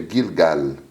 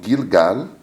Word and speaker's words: Gilgal: significa círculo em hebraico em árabe se pronuncia o g com tom mais forte é gilgal eles pronunciam o l